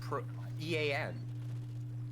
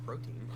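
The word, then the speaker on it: Protean: what protein what protein you say pro pro no like Pro Ean like that's how you say it is it word yeah it's not protein I'm just stupid then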